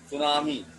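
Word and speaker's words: tsunami: अगला सुनामी। टी लगा होता है लेकिन साइलेंट होता है, आखिर लगाया ही क्यों, तो साइलेंट ही रखना है बेचारे को।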